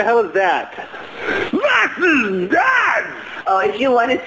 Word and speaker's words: das: What is that is was ist das. Was is das? Did you say the das or das? Das, no T. No T, das.